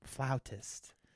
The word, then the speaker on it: flautist: There's a flautist. That's how you say it.